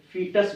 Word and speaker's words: foetus: तो we start with the word, और सबसे पहले हम लोग इसको बोलते हैं फीटस बोलते हैं। देखिएगा स्पेलिंग, चाहे FOETUS है, लेकिन इसको हम लोग पढ़ते हैं फीटस।